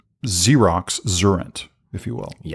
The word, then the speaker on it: Xurrent: So like current except with an X and it's pronounced like Xerox Zurent, if you will.